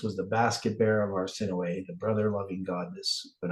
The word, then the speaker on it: Arsinoe: Arsinoe. Arsinoe, like no way.